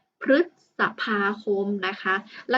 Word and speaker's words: พฤษภาคม: นะ คะ คำ นี้ ตัว รึ นะ ครับ ประสม กับ พยัญชนะ ที่ เป็น ตัว พ. พาน คำ นี้ นะ คะ อ่าน ว่า พฤษภาคม พฤษภาคม นะ คะ แล้ว ก็